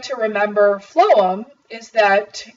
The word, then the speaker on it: phloem: I like to remember phloem is that even though it starts with a pH the F sound at the beginning of phloem is similar to food and the nutrients transported